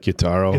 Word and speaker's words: Gyutaro: Gyutaro.